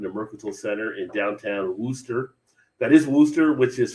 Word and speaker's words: Worcester: i kind of know it as wooster right but if you're like a foreigner you're trying to learn the american language that does not help you out at all you're just like